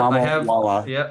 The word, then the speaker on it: Mamawala: So yep, Mamawala.